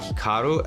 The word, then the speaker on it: Hikaru: more Americanized versus Japanese certainly if I was pronouncing it correctly it would be more like Hikaru as opposed to Hikaru but I've spent so